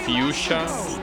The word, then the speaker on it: fuchsia: It's pronounced fuchsia. Fuchsia. Well, that seems hard to remember. I guess an easier way to remember is it sounds like Yusha, which means hero in Japanese.